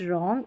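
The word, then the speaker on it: wrong: अब साइलेंट रहता है डब्लू, जब डब्लू आर से शुरू होने वाले शब्दों में, डब्लू आर से शुरू हो रहा है ना ये शब्द, तो यहाँ पर डब्लू साइलेंट है, इसको डब्लू को नहीं पढ़ेंगे। राइट, रॉन्ग और रैप, हम डब्लू का उच्चारण नहीं कर रहे हैं, राइट, रॉन्ग और रैप, इन तीनों स्पेलिंग में।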